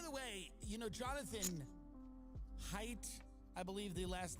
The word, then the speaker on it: Haidt: Because, by the way, you know, Jonathan Haidt, I believe the last name is pronounced that way, just wrote a book that